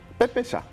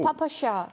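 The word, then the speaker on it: ППШ: 원래 러시아 발음으로 하면은 빼빼샤. 빼빼시아는 별로 되게 없어 보여요. 네, 아니 뭐 파파샤. 그쪽 발음으로는 그렇게 나쁜 발음은 아닌데 네.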